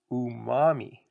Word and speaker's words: umami: But scientists are now convinced that there's a fifth taste, and it's pronounced umami.